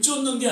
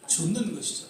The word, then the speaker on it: 좇는: 전적으로 따르고 좇는다는 것이죠이 발음을 잘해야 되는 것 같아요 예수님을 쫓는게 아니죠 예수님을 쫓는게 아니라 예수님을 좇는 것이죠 팔로우 예수님을 따라가는 것이다라는